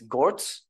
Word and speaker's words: Gorz: are you pronouncing it it's gortz yeah it's yeah no I think you're you're right G is it gors or is it gortz G I think it's gortz GS yeah GS okay good